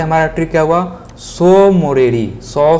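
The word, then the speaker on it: Tso Moriri: तसो लिख दिए हैं, लेकिन इसका हिंदी प्रोनाउंसिएशन सो मोरीरी होगा, सो मोरीरी, और यह जम्मू कश्मीर राज्य में है।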